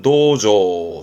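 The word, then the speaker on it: 銅像: 동상, 발음은 도조, 도조.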